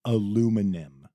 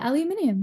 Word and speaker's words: aluminium: Aluminum, or as you would Yeah. say, aluminium. Yeah, aluminium.